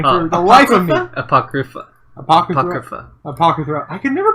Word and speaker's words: Apocrypha: Fate Apothecary. Or Apotheca. I can never pronounce that name for the life of me. Apocrypha.